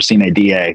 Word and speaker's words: sine die: We have gone, or will officially go tomorrow on what's called sine die, which is bad Latin pronunciation for sine die, which means that we have had the last session already.